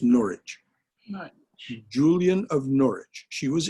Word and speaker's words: Norwich: Oh, Julian of Norwich, Julian, Julian of Norwich, pronounced Norwich.